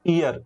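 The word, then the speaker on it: heir: उसके बाद ये बताओ, इसके बाद आपका हियर पढ़ते हो कि ईयर पढ़ते हो। तो यहाँ पे हम लोग पढ़ेंगे ईयर, इसका मतलब होता है उत्तराधिकारी। तो यहाँ पे हम लोग एन का इस्तेमाल करेंगे।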